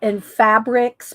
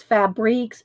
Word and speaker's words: Fabriques: So it's spelled AMOUR and fabrics, but it's fabriques, FABRIQUES.